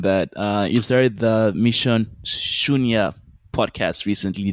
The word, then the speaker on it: Shunya: So moving on from that, you started the Mission Shunya podcast recently. Did I pronounce that right? Yes, Mission Shunya.